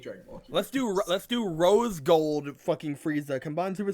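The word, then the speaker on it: Rosé: Also, I believe you'll find it's pronounced Rose.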